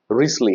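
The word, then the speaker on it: Wriothesley: है हेनरी रिसली है हेनरी जिसको हम डब्ल्यू आर आई ओ टी एच ई एस एल ई वाई यह प्रोनाउंस किया जाता है रिसली दरअसल हम लोगकि नाम में थोड़ा सा ये टिपिकल नाम है इसलिए जो है इसको प्रोनाउंस करते हैं रिसली हेनरी रिसली या फिर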